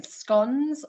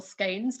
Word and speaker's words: scones: strong tradition in the uk with delights from scones or scones depending on pronunciation cream and jam sandwiches and other treats